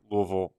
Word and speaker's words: Louisville: yeah you have to say swallow your l i see I've never even been there I just know from some people that I've worked with in in baseball that like nope you have to say it like you have a mouthful of peanut butter my sister went to